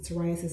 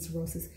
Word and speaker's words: psoriasis: these the cirrhosis psoriasis I'm sorry I keep and go back and forth between the proper way to pronounce it psoriasis and cirrhosis cirrhosis is a disease of the liver so rice's is a skin ailment and autoimmune disease and